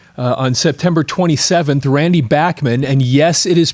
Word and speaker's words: Bachman: So over the weekend, uh on September 27th, Randy Bachman, and yes, it is pronounced Bachman, not Bachmann.